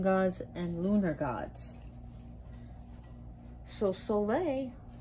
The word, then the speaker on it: Saule: and lunar gods so soleil i'll be using her lithuanian pronunciation is the most powerful